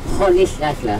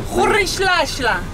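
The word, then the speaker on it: Rolihlahla: You can pronounce it. Khorishlashla. Khorishlashla.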